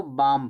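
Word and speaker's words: balm: इसको बाम पढ़ा जाता है। बालमल में नहीं बाम। बाम माने दर्दनाशक मरहम। बाम में एल क्या होता है?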